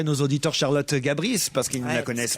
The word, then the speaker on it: Charlotte Gabris: Alors, il paraît qu'on prononce Charlotte Gabris.